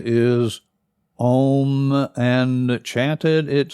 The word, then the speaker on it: Om: Sanskrit sound of M and that is often mispronounced as om but the sound is om and chanted it sounds like in 1975